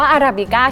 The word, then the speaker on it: Arabica: ญี่ปุ่น เรื่อง ที่ 7 จริง ๆ แล้ว ชื่อ ร้าน เนี่ย อ่าน ว่า อราบิก้า เฉย ๆ ส่วน รูป เปอร์เซ็นต์ เขา